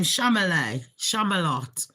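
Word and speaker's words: Chalamet: Shamalot. Sounds like Camelot.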